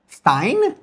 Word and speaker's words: Stein: S t at the beginning of a word always turns the s into a shh sound. Stein, not stein. Steinstein in German.